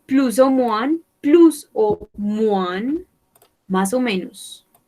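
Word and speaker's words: más o menos: moines pelouse aux moines masomenos pelouse aux moines ne prononce pas le s final deux mois bonne question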